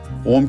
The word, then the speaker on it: ओम: दरअसल ओम का उच्चारण 3 शब्दों के मिलने से होता है। पहला अ, जो शरीर के निचले हिस्से यानी पेट के करीब कंपन करता है। दूसरा शब्द उ, जिससे शरीर के मध्य भाग यानी सीने के करीब कंपन होता है। और तीसरा शब्द है म, जिससे शरीर के ऊपरी